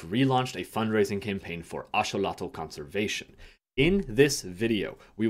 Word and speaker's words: axolotl: If you grew up in the States like I did, you probably pronounce this species as axolotl. Through this video, I will be pronouncing it as axolotl, which is the pronunciation underneath the original Nahuatl language.